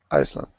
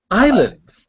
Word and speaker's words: islands: life in this uh there Iceland no no no ice Islands Islands read that last sentence